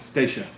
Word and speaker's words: Stacia: So how do you say it? Stacia.